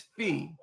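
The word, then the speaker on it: Phi: It's It's not Fi, it's Fee. P HI is pronounced Fe like Fe Ee.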